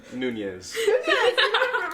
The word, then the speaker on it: Nunez: Nunez.